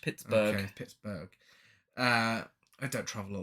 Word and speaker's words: Pittsburgh: to Pittsburgh he sedates did I say pit Pittsburgh no you're not pronouncing the H Pittsburgh uh I don't travel